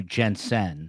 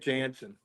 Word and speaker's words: Jansen: going to call you Jensen so people can correct my pronunciation of your last name. They always say Jensen. Oh, I don't know why Jansen. They can't get Jansen.